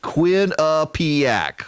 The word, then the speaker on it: Quinnipiac: Democrat are supporting him I love that they do the pronunciation guide kwi and Quinn you H uh peña P ack-ack Quinnipiac the Quinnipiac University national